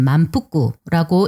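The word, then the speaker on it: まんぷく: 일본어로는 만푸꾸라고 읽는데 이 작품의 주인공인 만페이의 만과 후쿠오카의 후쿠를 합쳐서 만푸쿠가 된 것이기도 합니다.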